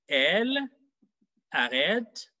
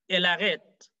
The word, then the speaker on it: elle arrête: Listen to how I pronounce it. Elle arrête. Elle arrête. Ella. Ella. So you realize la. The L, the E disappears in pronunciation. The L marries the A at the beginning of arrête.